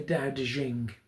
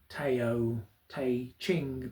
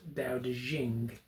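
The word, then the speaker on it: Dao De Jing: which I have a copy of here the da de jing as it's pronounced um it doesn't transliterate particularly well into English um as it was translated um it looks like it should say teo ting but is actually pronounced da de jing um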